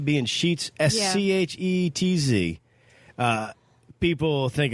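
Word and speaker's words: Scheetz: I can understand because my last name being sheets sche etz people think it's spelled like the sheets market yeah sometimes they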